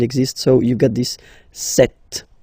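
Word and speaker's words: sept: Then here, remember, P is not pronounced. Okay, it doesn't exist. So you get this set sound.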